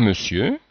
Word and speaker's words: monsieur: Autre exemple, cher monsieur, donc on voit bien là, cette bizarreté du son E qui s'écrit O-N ici et qui se prononce E comme dans le.